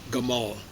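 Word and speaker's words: جمال: The original Arabic with where there's a J, there's originally a G. They still preserve that pronunciation in Gamal, but you've heard Jamal, same word, Jamal. Most Arabs say Jamal.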